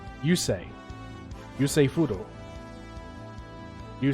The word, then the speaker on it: Yusei: say yeah that's how they say his name yusei yusei fudo you say you hope I say